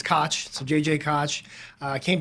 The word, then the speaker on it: Koch: uh often enough it my last name gets mispronounced as Koch and I think I made the brief joke